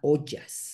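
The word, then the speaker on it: ojas: a ese eso que en ayurveda se llama ollas no sé si han oído esa palabra se escribe o J a s y la palabra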